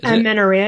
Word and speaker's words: amenorrhea: Amenorrhea, yep.